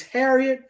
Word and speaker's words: Harriott: It's spelled Harriott, Harriet II. So it's not the same spelling, but it's Harriet.